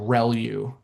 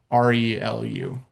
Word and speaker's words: ReLU: The the way you pronounce this is called relu. So relu re lu.